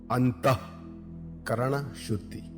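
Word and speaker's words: अन्तःकरणशुद्धि: It is pronounced as Anta Karana Shuddhi. The two dots after Anta means a Visarga, which is pronounced as Aha. Anta Karana Shuddhi.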